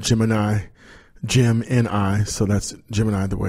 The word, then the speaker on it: Gemini: want to talk about called Jim and I Jim ni so that's Gemini the way it's spelled GE mi ni and then space GE